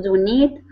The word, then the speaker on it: donate: Right here, so the stress is at the beginning of the word. Instead of donate, it's donate. Donate.